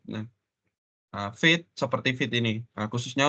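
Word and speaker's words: Vite: Sorry, ini bacanya bukan Fit ya, Fight ya, tapi Fit. Nah, Fit seperti Fit ini, nah, khususnya untuk front end.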